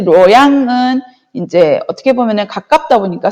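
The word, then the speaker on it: 洛阳: 그리고 이 시안하고 가깝고 황허강의 이점을 그대로 가지고 있던 이제 지역이 낙양, 이걸 중국어로 발음하면 로양입니다. 로양. 그래서 이 로양은 이제 어떻게 보면은 가깝다 보니까 서브의 개념이 있었어요.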